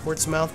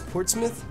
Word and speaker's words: Portsmouth: Portsmouth ports it's see they pronounce it differently in the UK and see if you were in in in the United States it looks like it says Portsmouth but it's I think it's Portsmith and I adore your